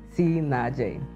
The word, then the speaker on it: CNAAJ: for nam and j for jomo it is pronounced si naje god has given me the gift to love